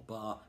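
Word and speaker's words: barre: Okay, this is my capo finger, if you like, or bar, B-A-R-R-E. Don't know why it's spelled like that, don't really care.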